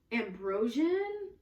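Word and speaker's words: Ambroxan: The base notes are Indonesian patchouli leaf, patchouli, white musk, vanilla, ambrosian. It's spelled with an X, and that's why I think it's pronounced like a Z.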